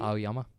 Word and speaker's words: Aoyama: I think Yoshikama is a bad dude, but Ayuama, is that how you pronounce it correctly? Aoyama.